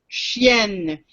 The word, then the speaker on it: chienne: Chien, chienne. If you say chêne, that means an oak tree. There's a difference in pronunciation.